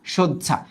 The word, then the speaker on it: শয্যা: আর কখনো যদি এই শব্দটা পাও, এটার উচ্চারণটা হচ্ছে এইরকম, সহ্য, সহ্য, তারপর হচ্ছে ঝা, সজ্জা।